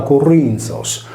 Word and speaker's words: Corinthos: La città greca di Corinto, posizionata sulla parte nord-occidentale dell’omonimo istmo, era pronunciata Corinthos, come in sardo, poiché posta sul filamento